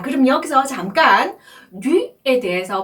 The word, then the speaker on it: du: 네, u 모음은요, 입술 모양을 우 한 상태에서 이 소리를 낼 때 나오는 발음입니다. 한 번에 발음하셔야 돼요. u, u. 네, 그래서 앞에 자음 대랑 같이 연결해서 발음을 하시면 du 이렇게 되죠.